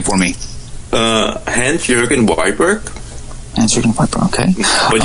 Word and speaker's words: Hans Jørgen Wiberg: best not to butcher your name, but my pronunciation is not very good. Could you please say your full name for me? Hans Jørgen Wiberg.